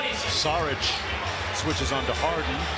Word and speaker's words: Šarić: Saric switches on to Harden, or if you're Croatian, it's pronounced Šarić.